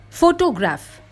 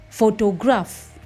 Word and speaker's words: photograph: Photograph. The first syllable is stressed, ho. The second syllable is de-stressed. It becomes deaf. And the third syllable is a secondary stress. At somewhere in the middle, graph. Repeat.